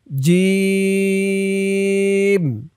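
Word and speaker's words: جيم: তারপর জিম। জিম। শক্ত করে তিন আলিফ টান দিয়ে বলতে হবে।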